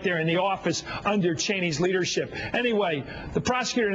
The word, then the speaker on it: Cheney: Dick Cheney, and that's how you pronounce his name, was out last night in